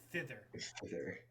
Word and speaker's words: thither: word you messed up it's not tether it's fither wait wait how do